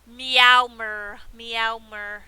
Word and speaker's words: Meowmer: said this before yeah meowmer it's like mayo like mayonnaise it's like mayo like